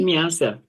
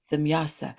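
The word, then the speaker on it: Semjase: if we took off, and how do you pronounce the name? Is it Semyasi? Simyasa. Semyasa.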